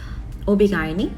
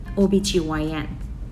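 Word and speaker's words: OB/GYN: 어떻게 말해야 될지를 모르겠더라고요 필리핀 애들은 오비 가이니 이렇게 말을 하고요네 미국에서는 오비 gyn 뭐 이렇게 발음을 합니다 그리고 또 어떤게 있을까요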